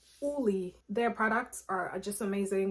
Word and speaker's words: Ole: Oh my gosh, Ole Henriksen, Uli. Actually, that's how you pronounce it, Uli.